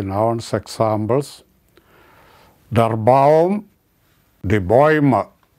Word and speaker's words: Bäume: Der Baum, die Bäume. That umlaut is pronounced as Bäume, Bäume.